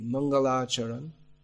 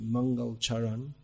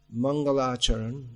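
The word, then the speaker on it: मङ्गलाचरण: beginning of his book the mangalacharan often mispronounced mangalcharan mangalacharan the uh auspicious invocation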